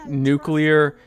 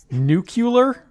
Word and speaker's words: nuclear: Senator Warner doing calling nuclear and I'm someone that you know says my mantra while eating ramen noodles nucular how do you say it Matt nuclear yeah cuz that's I mean